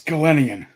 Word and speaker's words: Gelenian: your last name bro i'm so sorry it's gallenian glitty i'm very nice yeah but i respond